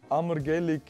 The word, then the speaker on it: ammergellig: Wenn eine Person ammergellig ist, was ist sie dann? Betonen. Nein, lass es so. Ammergellig. Ammergellig. Ammergellig. Ja. Also das Wort spricht man aus ammergellig.